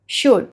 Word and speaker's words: should: जब भी किसी वर्ड में OULD आएगा तो OULD साउंड करेगा वुड, L will be silent, L अपना साउंड नहीं लेगा। Now let's read this words. क वुड कुड, व वुड वुड, श वुड शुड।